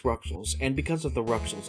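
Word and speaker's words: Rouxls: We go up the Car Castle and beat the puzzles of rules, pronounced Ruxels, and because of the Ruxels of 3, we fight Crowned again.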